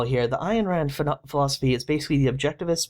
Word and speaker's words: Ayn Rand: a male version of Ayn Rand. And yes, I'm sure that's how you pronounce her name because I've looked it up.